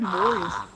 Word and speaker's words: Moyes: What did I say his name wrong again? I think it's just Moyes.